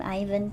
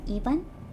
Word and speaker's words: Ivan: Case in point, well, I called him Ivan, but I guess the right way to say his name is Ivan.